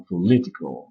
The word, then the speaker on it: political: Le O qu'on écrit dans political, on ne le prononce pas, on prononce un E, political, pas political, political.